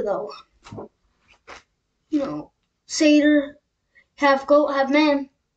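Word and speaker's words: satyr: It's actually pronounced Seder though. You know, Seder, half goat, half man.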